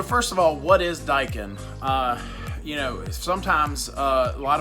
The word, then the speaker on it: Daikin: of all what is daikin you know sometimes a lot of folks when they first see the word they don't even know how to pronounce it Dakin Dyke and what what is